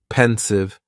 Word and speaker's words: pensive: next is pensive and the pronunciation is very easy just two syllables and the stress is on that first syllable pensive pensive now if somebody is